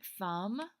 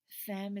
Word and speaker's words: femme: Now, guys, remember not to say femme. Femme is not the correct pronunciation. We want to say femme. Femme. We're going to pretend like there's an A there where that E is.